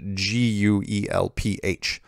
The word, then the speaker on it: Guelph: heard of it's spelled gue lph and that's in Ontario so I'd like to officially say it's pronounced Guelph of course why don't they just put a W in there be easier but you know what